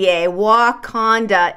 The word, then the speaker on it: Wauconda: It's spelled Wauconda, Wakanda, Illinois. But like I said, they're receiving a lot of attention because it's pronounced very similar to Wakanda.